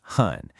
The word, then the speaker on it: 很: So, meet hun, pronounced hun.